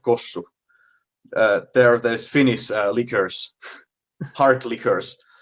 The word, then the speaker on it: Kossu: So one question is, what do you prefer to drink, Yalu or Kosu? I hope I'm pronouncing it right. Yeah, Jallu and Kossu.